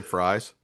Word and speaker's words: Fries: really your last name fries it's it is my last name it's technically pronounced freeze but it's spelled like the English fries but yes that's my